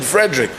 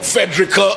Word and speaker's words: Frederick: My name is Frederick. I will never say my name is Frederick or Fedrica as he once referred to me.